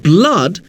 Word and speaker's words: blood: But in the second column, moon, blood, tool, boot, the word blood sounds completely different even though it uses the same oo letter string.